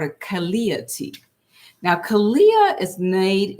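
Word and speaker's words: Calea: The Mexican dream herb, Kalia. And I'll spell that for you guys for those of you taking notes.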